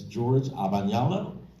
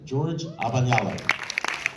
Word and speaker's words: George Abagnale: I have to pronounce this next speaker's name correctly. I'm Italian and so is he, and it's George Abagnale.